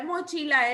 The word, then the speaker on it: mochila: La sílaba tónica de mochila es chi, porque chi lleva la mayor fuerza de voz.